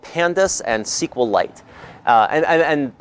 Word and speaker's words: SQL: we're gonna work with libraries called pandas and sequel light and and it's pronounced sequel by the way some people say SQL but I think you can say both but